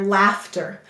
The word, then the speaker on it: laughter: All right, the first syllable is laugh. Af. Did you see that?